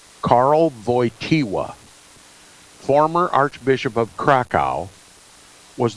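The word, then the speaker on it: Wojtyła: the creek christened him they call it Carl boy tiwa better known to you probably as Pope John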